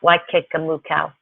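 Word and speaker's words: Waikikamukau: Likewise, Eketahuna is a booming metropolis compared to the mythical towns of Waikamaku, pronounced Waikakamukau.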